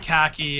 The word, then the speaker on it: khaki: entirely different word uh like it never occurred to me that you would pronounce that khaki and that that was like how you would spell khaki dude straight up CKY